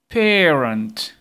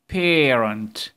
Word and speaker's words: parent: الأصوات اللي احنا خدناها parent parent فيها AR اهو بس ما بيتنطقش بإيه نفس الصوت ده لها نطق تاني parent parent ها play play